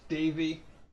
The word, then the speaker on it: Devi: it's spelled But it's Devi. It's pronounced Davy. And Yeah, just like this, and then pronounce it as if you're a German person.